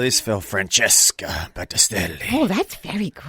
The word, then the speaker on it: Francesca Battistelli: Francesca Battistelli.